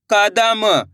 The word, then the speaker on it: कदम: क द म, तो मिलके बन जाएगा कदम। कैसे पढ़ेंगे? कदम। दोस्तों यहाँ पे एक चीज क्लियर कर दूं, जब भी अपन शब्द पढ़ेंगे तो लास्ट वाले अक्षर का उच्चारण अपन आधा करेंगे।